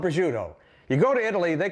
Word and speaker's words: prosciutto: two now this is Italian ham it's called prosciutto you go to Italy they call it where zut that's the way they pronounce it we'll take a few slices of